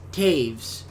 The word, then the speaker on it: Toews: See, I've been saying Toews the entire time, but it's pronounced Taves or Taves.